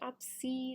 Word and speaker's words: Obsed: Um, the glue that I'm using is I think it's I think it's pronounced Obsid. It's O B S E D off of Amazon.